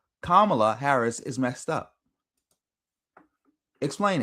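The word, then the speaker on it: Kamala: Nobody can still to this day explain what Camala Harris act um Camala I'm hopefully I'm saying it right. Kamla. No. No. It's Kamla.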